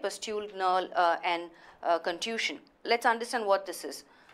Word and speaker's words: contusion: Contusion is pronounced like confusion. Contusion.